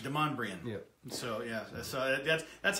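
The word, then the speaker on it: Demonbreun: because it's pay whew look at the word it's spelled demon brew it looks German yeah it's French Demond Brian yeah so yeah that's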